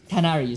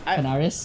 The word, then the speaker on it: Canaries: I think it's pronounced a plural of canary. Canaries. It is okay. Canaries. It is Canaries. What was I saying again? I already forgot. Canaris?